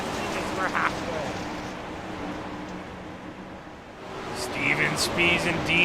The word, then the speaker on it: Spees: Would be cool if Steven was a detective with the last name that obviously looks like Spies. He'll tell us it's not pronounced that way. He says it's pronounced Spees.